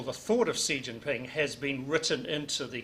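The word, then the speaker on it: Xi Jinping: surprise and they I don't know how they pronounced his name si Jinping as the name the way I pronounce it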